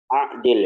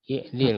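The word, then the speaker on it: اعدل: Adil ya. I'dil bukan adil. i'dil.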